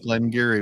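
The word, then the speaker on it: Glen Garioch: what it is but I never pronounce it right which is funny because it does not look like Glenn Gary when you read it no no it does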